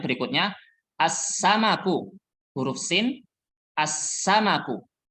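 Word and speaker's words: السمك: as samabu huruf Sin as samaku bacanya bukan alsanaku tapi langsung masuk ke huruf Sin Alif lamnya tidak terdengar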